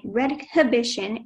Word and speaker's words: redhibition: The sentence is, Patrick hired an attorney who specializes in redhibition as the computer he bought recently doesn't work well. Could you please repeat the pronunciation?